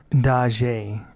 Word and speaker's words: Dajie: The name of the site one man kept talking about was Dajie, pronounced DAH-JYEH, and how the other man should join it just like he did.